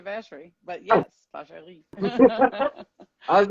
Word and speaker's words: Vacherie: where she goes to Vacherie. Where she goes to Vacherie, yeah. Yeah, Uh-huh. I was like, Although that is the French pronunciation, but we would say Vacherie.